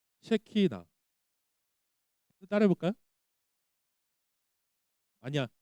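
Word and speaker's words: שכינה: 셰 발음 잘해야 돼요. 셰키나.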